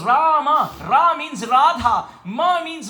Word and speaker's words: Rama: wrong Oh No why the word Ram has two syllables please repeat rah and MA but what are these